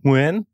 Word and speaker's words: Nguyen: It's Nguyen. Right. Vietnamese name. And all Vietnamese words are one syllable, you see. So okay. Although it's spelt like it's got three syllables, you say Nguyen.